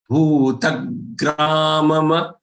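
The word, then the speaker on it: भूतग्रामम्: There are two mas. They are both followed by letter a. So don't pronounce them as if it is half. Grama ma. Bhutagramama chetasah. Bhutagramam. Don't say bhutagramam chetasah. Mama chetasah. Then the fourth portrait are the charan.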